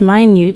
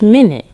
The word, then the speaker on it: minute: The first minute pronounced minute means tiny or very small. The second minute pronounced minute means a unit of time to 60 seconds.